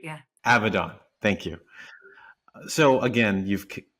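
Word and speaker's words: Abaddon: I mean, every character you've played from Black Canary to Abaden carries a different type of strength. Abdon is the pronunciation just to correct it. Yeah. Avidon, thank you.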